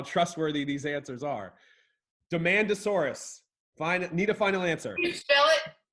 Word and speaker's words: Maiasaura: trustworthy these answers are demanda Soros fine need a final answer sure it's like demand de ma nd a Soros demand a Soros yeah